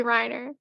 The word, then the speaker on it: Reiner: when I watch it I hear Reina but I think it's it's probably Reiner okay whatever it is